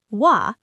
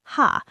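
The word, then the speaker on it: は: She like she wa remember from last episode. This particle is pronounced wa not ha.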